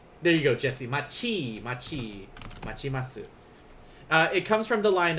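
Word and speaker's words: 待ちます: Like if you put this T here, it's still going to be pronounced as chi instead. So machimasu.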